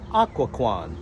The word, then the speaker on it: Occoquan: That's correct, Occoquan. The correct pronunciation, well, I don't know.